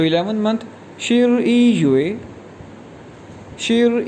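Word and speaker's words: 十一月: इसी तरह नवंबर जो है 11वां महीना है साल का, तो नवंबर को कहेंगे शिर ई युए। शिर ई हमने पढ़ा था 11 के लिए, तो 11 मंथ शिर ई युए, शिर ई युए।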